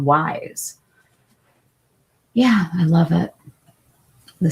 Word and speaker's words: YSE: It's cuz it's spelled Y S E, but she it's called Wise.